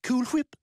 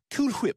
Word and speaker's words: Cool Whip: It doesn't bother you the way I pronounce it? Cool whip? No, why would it? Cool whip. I'm putting emphasis on the H.